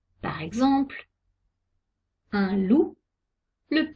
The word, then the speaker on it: loup: le xe et le z par exemple un loup le p ne se prononcent pas il ya des exceptions un ours